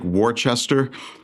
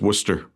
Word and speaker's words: Worcester: The way it's spelled is different, but everybody um it looks like Warchester, but it's Worcester.